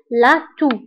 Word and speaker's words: la toux: فبالنسبة لاتو تكتب بإكس ولكن لا ننطقها، إكس في آخر الكلمة ولكن لا تنطق، دونك نقول لاتو.